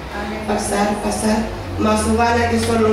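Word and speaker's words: Farfar: es el nombre, que se escribe PH, se pronuncia F, Farsar, más Obana, que son los mejores ríos de Damasco, y este me va a sumergir en el río Jordán.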